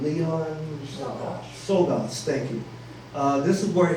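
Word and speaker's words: Czolgosz: This is where the assassin, and by the way, how do you pronounce his name? Leon Sogas, thank you.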